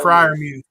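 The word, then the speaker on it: Freiermuth: Pat Fri Frier Muse.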